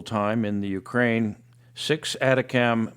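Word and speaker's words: ATACMS: in the Ukraine six atacam missiles that's the way the acronym is usually pronounced for these things uh were launched from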